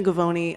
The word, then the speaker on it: Gavoni: It does rhyme with baloney. I'm Gavoni.